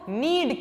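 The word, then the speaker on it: knead: उसको नीड किया जाता है। नीड इसका स्पेलिंग के एन डबल ई डी।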